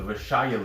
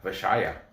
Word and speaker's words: Vysshaya: The Vyshaya League record. Okay, it's such a pain in the ass to say it. How Vysshaya. Yeah, Vyshaya. You gotta say it like a Belarusian.